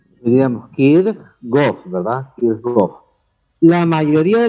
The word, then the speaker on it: Kirchhoff: Los dos casos están mal, porque este es un idioma este es un apellido que viene de qué idioma? Del alemán. Del alemán. Entonces, deberíamos pronunciarlo como alemán y no como inglés, porque no es inglés.